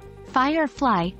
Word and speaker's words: Firefly: Firefly Fire gets the stress not fly practice these words and